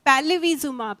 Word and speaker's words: Palivizumab: for me to pronounce, but I'll try to pronounce. It was Julab, Zumab, Palivi, but I will try. It's Palivizumab.